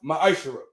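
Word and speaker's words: מעשר: It means tenth in Hebrew and is pronounced ma'ashara.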